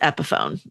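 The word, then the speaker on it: Epiphone: The guitar is pronounced epohone.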